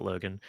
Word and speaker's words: Logain: I know you pronounce it Logan.